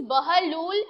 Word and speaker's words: Bahlul: So the pronunciation is Bahlul and the spelling is Bahlul-Lodi.